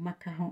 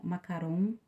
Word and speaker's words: macaron: daquele daquela sobremesa né o macarrão macaron é assim que pronuncia tá gente já o